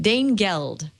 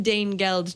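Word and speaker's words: Danegeld: Rudyard Kipling poem about Dane gold Dane geld I believe is how you say it uh and the whole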